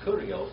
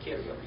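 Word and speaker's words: Κύριος: It's not Kurios, it's Kyrios. All right? Like a Y.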